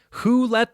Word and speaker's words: whole: a silent w who who let the dogs out number five hole that's right whole w h o l